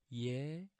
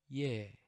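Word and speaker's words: 예: The next complex vowel is ye, ye, and it sounds like the word of English piano, piano.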